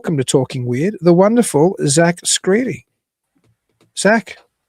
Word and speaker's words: Skrede: So, I'm delighted to welcome to Talking Weird the wonderful Zack Screedy.